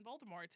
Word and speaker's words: Voldemort: Yeah, he definitely is from He's definitely from across the pond and he did not pronounce the T on Voldemort and it kind of irked me a little bit.